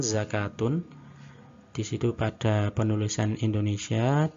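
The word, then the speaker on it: زكوة: Namun sebenarnya itu sama, bacanya adalah hayatun. Pada beberapa kata ini, yakni hayatun, solatun, sama zakatun, model penulisan pada cetakan Madinah adalah semacam ini.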